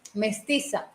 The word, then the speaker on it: Mestiza: what is it? How you pronounce it? What? Your culture. Mestiza. Mestiza. That's right.